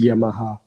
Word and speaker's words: Yemoja: For example, Yemoja is pronounced Yemaha.